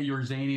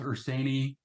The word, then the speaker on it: Urszenyi: But you know, I say my son pronounces it your zany. I used to say your zany. Now I stick more with Urszenyi. It's nowhere near the Hungarian version, right.